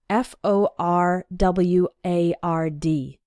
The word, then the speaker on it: forward: to include the r f o r w a r d again when speaking fast we sometimes say it like forward as if there wasn't that first R but you need to